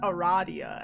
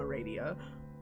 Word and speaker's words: Aradia: apparently her uh radius route it's called it's pronounced eradia and like i feel like this is targeted at me specifically because i refuse to not pronounce her name a radio let's see i know what a